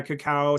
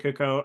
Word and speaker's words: cacao: with two A's so it's CA caca yeah cacao some people pronounce IT cako Coco um that is the most like well